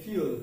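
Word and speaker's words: fuel: হচ্ছে ফুয়েল যেমন যে ফসিল ফুয়েল কিন্তু এর উচ্চারণ হচ্ছে ফিউল কি হবে ফিউল উচ্চারণটা কি হবে ফিউল নট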